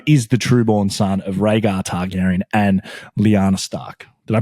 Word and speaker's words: Rhaegar Targaryen: Now, I will start because Jon Snow is the trueborn son of Rhaegar Targaryen and Lyanna Stark. Did I pronounce that right?